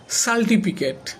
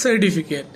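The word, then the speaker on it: certificate: বা আমি অনেকদিনকে দেখেছি অনেকে বলে সার্টিফিকেট হ্যাঁ না এটা হচ্ছে সার্টিফিকেট সার্টিফিকেট আচ্ছা এখন তোমাদেরকে আমি বলে শোনাবো লেটারের উচ্চারণ।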